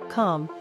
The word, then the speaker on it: calm: ungrateful gratefully in gratitude calm melt the silent L forbid County compare country